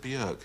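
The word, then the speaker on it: Björk: of left field and bjork or is it bjorg yeah it comes to the official pronunciation i'm going for the icelandic one there anyway there are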